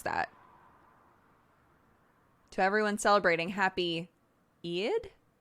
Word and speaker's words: Eid: everyone celebrating happy eid e-i-d how do i pronounce that i'd happy eyed like aid happy aid is it both my dad says hi to the video call hi dad it's like eid eid i'd aid it's eid everyone is saying different